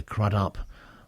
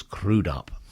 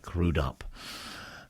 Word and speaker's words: Crudup: always thought it was by Arthur big boy crudup but I've been reliably informed by Cliff mcnight that the correct pronunciation is crudup so from now on it's arur big boy crudup okay moving on a friend of mine Bill